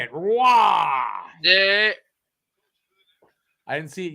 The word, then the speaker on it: Roy: Roy.